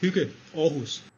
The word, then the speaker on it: Hygge Aarhus: It's called Hygge Aarhus. Thanks, Brian, I appreciate that. And that's how a non-ignorant Brit pronounces it.